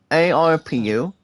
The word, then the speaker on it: ARPU: evans revenue per user that's pronounced guys as arpu um penae bombay welcome